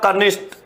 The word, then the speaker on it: कनिष्ठ: यह किसम हुई है ट वर्ण की जगह ठ वर्ण आना चाहिए था वर्ण गलत आ गया